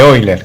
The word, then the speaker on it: Euler: las vean referidas como forma de oilers que se escribe euler recordamos que la forma